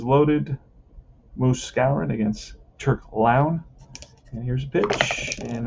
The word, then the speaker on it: Lown: pronounce his name yeah his uh name is la turk lounge like town lounge all right clown like town he's a bee and